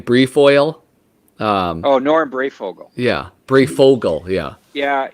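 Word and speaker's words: Breyfogle: say the name brief oil um oh norm brayfogel yeah bray fogel yeah yeah he was a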